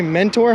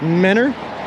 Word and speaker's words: mentor: That's not how you say mentor. How do you say mentor? It's mentor. There's a T there.